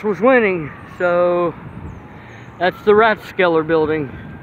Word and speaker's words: Rathskeller: you the exterior The Rathskeller or ratskeller staff I've heard both pronunciations I think I first heard as ratskeller so I tell I